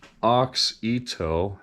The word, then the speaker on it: Auxito: we like it so Oxo is how I've pronounced it auit Global supplier for